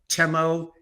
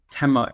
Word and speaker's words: Tema: cojan he is the Chief investment officer of temo ETFs Yuri how are you very good thanks